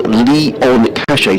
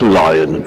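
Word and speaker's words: Lion-Cachet: And he says the surname is pronounced Leon Cachet, so not Lion.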